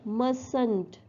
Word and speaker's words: mustn't: must not must not mustn't you pronounce it as muscant this d is this t is silent right okay need not